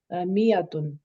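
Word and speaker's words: مائة: Note that is miyatun, the alif is not pronounced. It is pronounced miyatun in certain.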